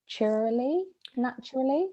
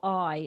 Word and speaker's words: Naturli: We flipped between Vitalite's dairy-free spread and I hope I'm pronouncing this right, Naturally. Yeah, I struggle to pronounce that as well, but yeah, it's Naturli, and that one's available in Sainsbury's and Waitrose.